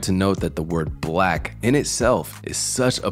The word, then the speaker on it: 6LACK: often opt to sing 6 lakh which is understandable but the 6 acts as a b which stylizes his name differently black grew up in